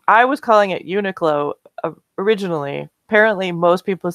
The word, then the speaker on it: Uniqlo: Yeah, it's almost like it ends in URO. Yeah, the end is the tricky bit. Yeah. Like the last syllable is like goes to your brain in a weird way, and you're just like, I didn't get that.